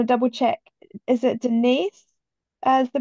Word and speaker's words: Denise: Is it Denise as the pronunciation? Denise.